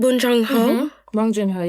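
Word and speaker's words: Bong Joon-ho: Bonjunho.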